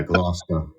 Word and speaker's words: Gloucester: they want me to ask you how you pronounce. I know one is Gloucester. Yeah, Gloucester.